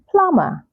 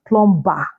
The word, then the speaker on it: plumber: then we have plumber say plumber not Plum it's plumber plumber so the plumber has